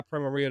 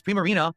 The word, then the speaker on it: Primarina: But yeah, my Primarita I always forget. It's all good. Look at that beautiful card. So, yes, Primarina.